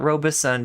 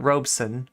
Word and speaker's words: Robeson: man's name is Paul Robeson yeah two syllables not Robeson but Robeson right um okay so let